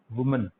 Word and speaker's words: women: अच्छा, similarly वुमन, this is called वुमन, वुमन वुमन, and this is called विमेन, WOMEN। Pronunciation दोनों का अलग अलग है। This is called वुमन, this is called विमेन,